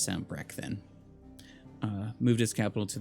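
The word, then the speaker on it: Sanbreque: across valastia North reach uh send brick okay I think that one's pronounced Sam brecht then moved his Capital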